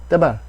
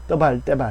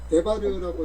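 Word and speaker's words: דְּבַר: 세바가 첫 단어에 왔을 때는 유성 세바 아닙니까? 맞습니다. 떼발. 예. 떼발. 그래서 대바르라고 읽어야 되는 예. 근데 대바르는 그냥 편의상 그렇게 하는 거고요. 원래 더 짧죠. 떼발.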